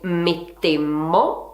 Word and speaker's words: mettemmo: E infatti la seconda persona singolare sarà tu mettesti, la prima persona plurale diventerà noi mettemmo, attenzione a far sentire la doppia M, e la seconda persona plurale diventerà voi metteste.